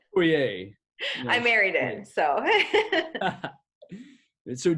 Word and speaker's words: Poirier: So Poirier, is that correct?